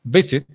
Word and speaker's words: visit: En el caso de visit, como el acento está en la primera, visit, si no quedaría visit.